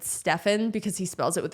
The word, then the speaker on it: Steph: can't to be fair Steph Curry completely changed it's true he's Steph Curry he's not Stefan he's Steven Curry or spelled like the